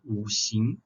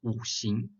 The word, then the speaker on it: 五: In Chinese, we call it 五行. 五 is 5. Spelled like W, U.